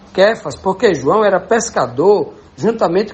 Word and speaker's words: Cefas: Bíblia tá cefas né então lá na língua aramaica ele pronunciava mais ou menos assim cfas porque João era pescador